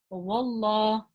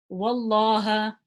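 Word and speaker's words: والله: So if the letter before the name of Allah has a fatha or a dhamma, we pronounce the lam in the name of Allah heavy. If the letter before has a kasra, we pronounce the lam in the name of Allah lightly. Okay, so let's use the examples. So if it's got a fatha on it, I would pronounce this as wallah, wallaha.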